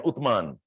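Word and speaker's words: Uthman: and call that as ottoman like utman Arabic pronounced as u t h m a an utman so it becomes Ottoman Empire and Ottoman Empire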